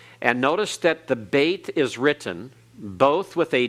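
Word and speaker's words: bet: Olive all right the second letter is called bait everyone bait all right and notice that the bait is written both with a dot in what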